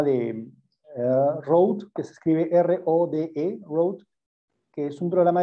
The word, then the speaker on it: Rode: Por ejemplo, yo edito mucho en un programa que es el programa de Rode, que se escribe R-O-D-E, Rode, que es un programa de edición que